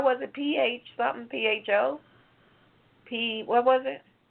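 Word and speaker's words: phở: but it's spelled, how was it, P-H something, P-H-O? What was it? How does that soup spell? P-H-O. I'm not sure. I thought it was pho. They say it's pronounced pho.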